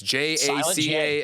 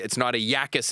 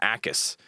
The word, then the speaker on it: Jacas: It's Jacas. Yeah. Okay, thank you. It's not a Yakis, it's an Akis.